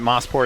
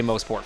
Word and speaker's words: Mosport: and I wanted I Is it Mossport? I said the wrong thing. I know, dude. I know. I say it wrong. I really I really need you to say Mosport from now on. Yeah, I really don't want to. Oh, it's But it's what it's called. I know. There's Moss Corner. Yeah. No, I know. But it's Mosport. It's motor sports.